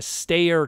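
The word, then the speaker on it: Steyr: what was called a stayer truck. Stayer, that's how it's pronounced, stayer truck.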